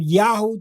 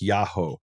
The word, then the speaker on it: Yaho: So your suggestion is they pronounced it something like Yahoo. Right. Okay. Yahoo.